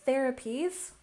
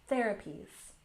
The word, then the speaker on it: therapies: And therapies, let's work on pronunciation. Be sure to stick your tongue out between your teeth. Therapies.